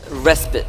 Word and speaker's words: respite: what's interesting is that that's actually pronounced respite respite even though despite and respites have the same way it's because it's a